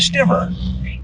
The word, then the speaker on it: stiver: And so they just made it rhyme with river, all right? Detroit River, cry me a stiver.